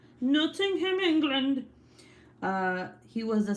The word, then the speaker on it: Nottingham: was born in nottingham netting him is that how you say it no noting nottingham noting him england uh he was